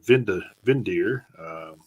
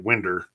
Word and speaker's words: Windir: We had Valfar, vocalist for Vindir. He unfortunately passed away in 2004. And I looked this up mainly because the band's name is spelled Windir, and to the cornbread metalhead that looked like Winder.